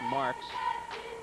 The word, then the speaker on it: Marcus: Marcus Marcus yeah it looks like Marcus but it's actually pronounced Mark's another football guy he's